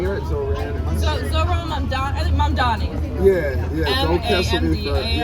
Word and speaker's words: Mamdani: Yeah, I love Mamdani.